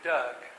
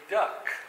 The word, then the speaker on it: Doug: difficulty pronouncing the name Doug um um in China people called me duck like a duck quack quack and in Cyprus I many people have a they often say duke instead of Doug I don't